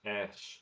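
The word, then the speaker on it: ř: The actual letter itself is pronounced ersh, but when you see it in a word, it's It is not r.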